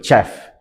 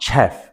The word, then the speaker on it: chef: It's actually not chef. It's actually called chef, right? And I I think I understand why because the spelling starts with a C, but the pronunciation starts with an S.